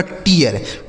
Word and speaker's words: TEAR: आगे TEAR, टी से हो गया ट, EA का उच्चारण ई, आर से र, यह लिखा गया आपका टीयर, TEAR टीयर।